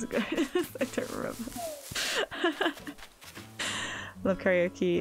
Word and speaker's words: karaoke: And did you know karaoke means, it's actually pronounced karaoke, but it means empty orchestra, which I think is a pretty name.